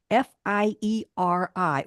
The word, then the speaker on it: Fieri: show it's guy fiti f i e r i or Fieri I've heard it pronounced as though the r is a t so VI Yeti he's